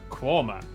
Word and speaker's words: Quernmore: Gotham Gotham followed by a stop in quernmore quma before finishing up in alwick anik which is